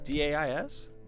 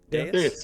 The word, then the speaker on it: dais: D-A-I-S? Is that how you say that? Dais. Dais?